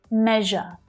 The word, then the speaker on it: measure: Probably the trickiest thing about this word is that consonant sound in the middle. Zh, zh. You know the sh consonant sound, right? Sh. Well, this sound is the voiced pair to that sound, which means that we